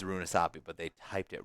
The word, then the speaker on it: Runasapi: Oh, there isn't actually an extra vowel in there. My bad. I've been pronouncing this wrong the entire time. It is Runasapi, but they typed it wrong on...